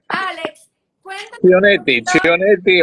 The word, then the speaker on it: Chionetti: y tenemos el privilegio de tener a Alex Cianotti hoy. Alex, cuéntanos un Chionetti, poquito, Chionetti o Chionetti.